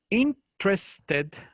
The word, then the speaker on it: interested: Pero en este caso se pronuncia sin la primera E.